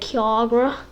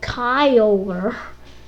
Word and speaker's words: Kyogre: But that's why I called it Kiagra. And I called it Kiagra for a really long time, actually. Though I finally changed it to Kyogre, how I You're supposed to pronounce it.